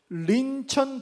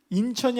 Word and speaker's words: 린천: 게임 닉네임이 바로 린천 돌주먹이에요. 린천 돌주먹. 인천이 아니라 린천. 약간 북한식 발음으로 이렇게 제가 만들었었는데 린천 돌주먹.